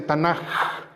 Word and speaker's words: Tanaj: le llama el tanaj a veces se escribe con k como tanac pero en hebreo se escribe se dice tanaj con una G muy muy cultural eh y el tanaj